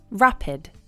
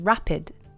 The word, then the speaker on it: rapid: RAPID rapid rapid the stress is on the first part of the word /ra-puhd/ you can't make rapid